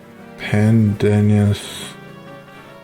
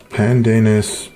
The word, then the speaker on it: pandanus: this in my life pandenius how do you pronounce this pandanus screwpine pandanus pronunciation pandanus yeah pandanus who the hell named